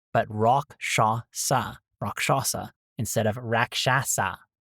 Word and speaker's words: Rakshasa: mech and I had to look up a pronunciation guide from this and the conclusion was Roshasa. So not raasa but rock shasa rock shasa instead of raasa rock shasa which sounds so much fancier rock shasa.